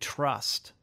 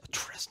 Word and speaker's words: Tryst: a writer director producer and then you did trust yeah trust tryst I got that written down wrong pronounced wrist and it seemed you know secret